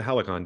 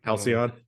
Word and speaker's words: Halcyon: of stuff okay yeah back in like the Helicon days I thought you pronounced that word I've only read that Helicon days Palestine Palestine Halcyon yeah I'm always embarrassed that like a word